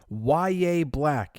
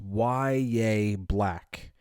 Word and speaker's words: Yahya Black: Fifth round pick YA Black. Yes, it is pronounced Yaya Black.